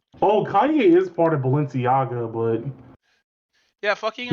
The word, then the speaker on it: Balenciaga: Uh Balenciaga by AI balenciago by uh sorry sorry I said it wrong oh Balenciaga wait what is a